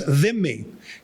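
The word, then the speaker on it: dhimmi: known as vimi uh it's hard to pronounce Arabic has uh some interesting uh consonants there are three THS in Arabic the the right so three so uh them me is sometimes spelled d-h-i-m-m-i because the hard DH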